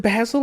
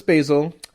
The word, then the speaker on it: Basil: I'm like, they're like, oh, is it Basil? I'm like, no, it's Basil.